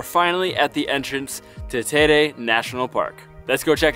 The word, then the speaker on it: Teide: So we just asked somebody here who's from the island, and he said it's pronounced Teide.